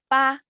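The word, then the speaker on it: 八: It's pronounced as ba. So it's actually for the Chinese character ba 8.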